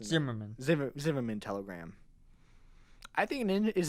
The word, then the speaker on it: Zimmermann: mm-hmm and also the zig room in telegram pronounced simmerman Zimmermann telegram I think